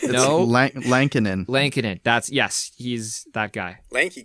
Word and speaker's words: Lankinen: Is it pronounced Delia? Goalie. Goalie. And who's they have a third guy. Is it Lettinen? Yeah. Kari Lettinen's back? No. It's No. Lankinen.